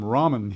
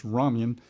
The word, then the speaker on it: ramen: You people call them ramen here because it's spelled RN, but it's rammen.